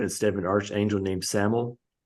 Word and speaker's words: Samael: and Eve, but instead of an archangel named Samael. Samael, yeah. Samael. Yeah, I keep mispronouncing it.